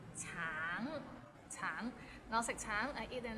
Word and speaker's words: 橙: Tang, it means orange, but some people might find it difficult because the end has a little ng, so it's a bit of nasal sound. Tang, tang.